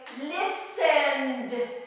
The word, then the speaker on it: listened: We're gonna say listened, it's soft, listened.